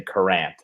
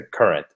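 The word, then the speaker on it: Courant: that on the podcast you're gonna say karant it's the current current whatever Jeff Jeff Jacobs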